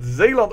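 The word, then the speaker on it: Zeeland: I should say because that's the way to pronounce it zaland over here we have a tradeit dispute against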